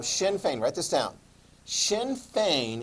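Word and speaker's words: Sinn Féin: that weird uh pronunciation it looks like sin shin fein right so shin fein write this down shin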